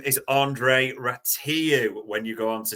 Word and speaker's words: Rațiu: Ratatouille either, but his official name is Andrei Rațiu when you go on to Spanish pronunciation site.